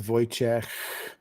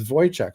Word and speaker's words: Wojciech: The correct pronunciation of my name is Wojciech. Like there's a soft H sound at the end, but it's quite difficult for Anglophones to pronounce it. So I just do the K sound.